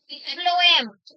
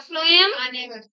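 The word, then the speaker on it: phloem: गलत कर देते हैं, फ्लोएम पीएच हमेशा फ की आवाज निकालेगा, ठीक है।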